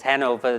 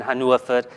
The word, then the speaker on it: Hanover: Albert Philipus kadok Hanover we pronounce it as Hanover the German Haner okay um but one